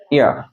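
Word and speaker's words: heir: কিন্তু পড়ে রাখে যে হেয়ার পড়ে রাখে, যদি হেয়ার পড়ে তাহলে তো এ হচ্ছে, বাট এর প্রোনাউন্সিয়েশনটা তো হেয়ার নয়, এটা হচ্ছে ইয়ার।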